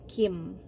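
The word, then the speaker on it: 김: nah marga yang pertama ini eh tulisan romanization nya itu sebenarnya sama dengan huruf k tapi kalau huruf handle nya jadi huruf kayak huruf g gitu tapi dibacanya tetap Kim seperti itu untuk warga yang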